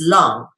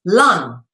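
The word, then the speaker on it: 龙: And you even pronounce it the same way as this, lung, all right, with a U sound, lung, not lang or long with a O. You pronounce it the same freaking way, which is lung, all right, as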